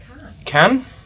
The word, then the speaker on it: Cannes: I think it's just pronounced can can. Yeah. Can like like a tin. Yeah. But more more French. More French. Yeah.